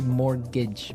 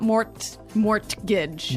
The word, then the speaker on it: mortgage: Yeah, it has a T in it, but you don't pronounce it. You say mortgage. Mortgage. So, not mort mortgage.